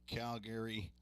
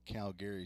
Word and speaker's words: Calgary: foreign Hometown players from Calgary Alberta Canada Calgary is how they say it up in Canada is what I heard we say Calgary is that Ball's grounded